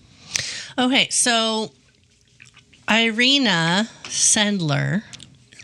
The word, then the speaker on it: Irena: So, today we're going to talk about Arena Sendler.